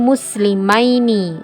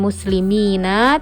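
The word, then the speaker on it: مسلمين: Nah, atau ini muslimaini. Nah, jadi kalau yang ada ya dan nunnya itu cara bacanya nanti bukan muslimina tapi aini ya, muslimaini.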